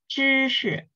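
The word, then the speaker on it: 知识: 嗯，知识，You need to curve your tongue more, right? 知识，知识，your tongue 知 needs to put back a little bit. It's not like in the front, it's at the back.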